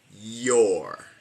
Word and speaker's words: you're: Es porque no se pronuncia your. Sé que es you are cuando está separado, pero cuando está contraído no suena you, suena yo, your.